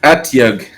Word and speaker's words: Otyugh: It's pronounced Atyugh. Atyugh. Atyugh with an O.